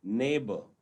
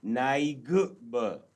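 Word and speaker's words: neighbour: तो हम बोलते हैं नेबर, हम ऐसा नहीं बोल रहे नाइग, ऐसा नहीं बोल रहे हम बोल रहे नेबर, है ना।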